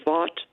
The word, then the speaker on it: Vought: He had a piece called "The Shadow President" about Russell Vought. I think I'm pronouncing it right. Yeah, Vote actually is how he pronounces it.